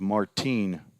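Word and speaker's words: Martín: I probably called Andy Martin all all three games last year corrected to give the Spanish pronunciation of Martine maybe his father or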